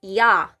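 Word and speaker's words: Я: is a symbol because this letter should be pronounced as yah yah okay yeah like yaaaa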